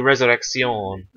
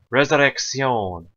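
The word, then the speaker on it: Resurrección: i c c c it's like you're pronouncing a k and an s in literal a double like so like a half two half syllables in one C Resurrection I've heard so many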